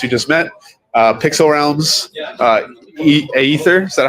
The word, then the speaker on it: Aether: We're joined here today with our partners from Ocean, as you just met, Pixel Realms, Aether, is that how you pronounce it?